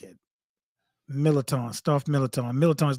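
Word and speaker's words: Mirliton: Millerton, stuffed millerton.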